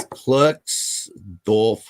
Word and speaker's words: Klerksdorp: It's Klerksdorp. Klerksdorp, I think it's pronounced, spheres, or Klerksdorp spheres, originated.